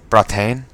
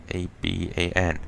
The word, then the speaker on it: Bratan: Bratan, not Aban. Nope, it's just because there's an accent on the A.